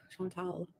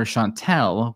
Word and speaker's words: Chantal: Yeah, some people call me Chantal. Chantal is how you say it. French people can always say it because they have the accent, you know?